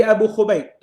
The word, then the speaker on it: Abu Khubayb: Dari Abu Khubayb dengan dhammahnya kha mu'jamah. Ini dia punya cara bacalah. Boleh?